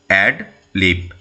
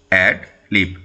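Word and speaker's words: ad lib: রয়েছে এডি এল আইবি কি উচ্চারণ হবে অ্যাড লিভ eddy L আই বি অ্যাড লিভ অর্থাৎ কি পার্ট অফ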